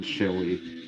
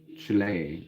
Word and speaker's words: Chile: Like a chia pet, I guess you could say. And then lay. Lay. Lay. Chile. Chile. Chile.